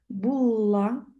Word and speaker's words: Булла: Булла, вибачте, наголос падає на останній склад. Булла, акти римського папи, історично.